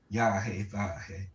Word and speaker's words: Yahweh: And Sean, how you say it in the pronunciation? Yahweh.